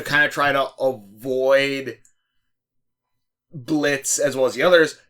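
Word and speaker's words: Blitzø: Blitz. The O is silent.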